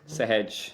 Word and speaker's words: Sehaj: Yeah, like hedging a risk, Sehaj.